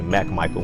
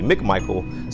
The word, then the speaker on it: McMichael: first name it says everybody usually always mispronounce my last name and say Mack Michael when it's really McMichael so I put an